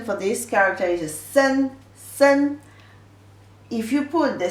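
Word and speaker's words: 森: Actually, you put these two characters together, the pronunciation for this character is sen, sen.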